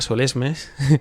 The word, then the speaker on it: Solesmes: España de la congregación de Solem, pronunciado a la española Solesmes.